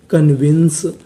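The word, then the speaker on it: convince: एन C wins क्योंकि आखिरी में इ का उच्चारण नहीं करना तो मीनिंग क्या बन गई कन्विंस कन्विंस कन्विंस का मतलब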